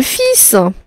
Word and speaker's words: fils: le fil ah le fils le fils ça s'écrit bizarre mais c'est comme ça le fils ça s'écrit comme ça et on ne prononce pas le l d'accord le fils du